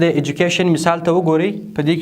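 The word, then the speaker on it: education: نهم ترکیبي توري چې دی د ډي یو دی چې دا په جم باندې تلفظ کیږي، چې دا اکثره وخت د کلمو په منځ کې راځي. تاسو د ایجوکیشن مثال ته وګورئ.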